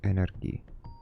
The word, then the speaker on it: energi: Oh, today I learned energy in Swedish is energi. But, like, I think the G isn't a G in Swedish, pronounced at least.